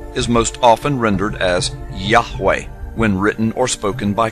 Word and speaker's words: Yahweh: most often rendered as Yahweh when written or spoken by Christians and others it is still never pronounced aloud by Orthodox Jews the pronunciation Jehovah is an older less accurate rendition of these letters it originated with the